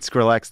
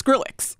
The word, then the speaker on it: Skrillex: scrx press the button I think I pronounced it scrx that time which is fun you can say Skrillex but it's so fun to say scrx it's Skrillex yeah Skrillex yeah you're